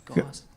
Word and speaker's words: Goss: I'll forgive that mispronunciation of my last name. It happens a lot. It's Goss. Goss.